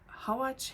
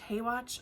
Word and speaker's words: Howatch: And that smaller one has all of my Dorothy Dunnets and my Susan, is it Howatch? Haywatch? I like to say Howatch because I think it's funnier, but it's spelled H-O-W-A-T-C-H.